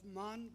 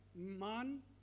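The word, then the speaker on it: Mane: Jimon Kora is a prominent figure in the Indian business landscape, serving as the CEO of MAN Concor. It's spelled as M-A-N-E, but I guess I got the pronunciation right.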